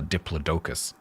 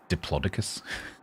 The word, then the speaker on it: Diplodocus: talking about um what I would call a diplodocus, but he pronounces it diploicus.